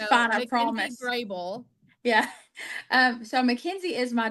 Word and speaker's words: Grable: Is it Grable? Grable, yeah. I spent months saying Grabeel until I heard you say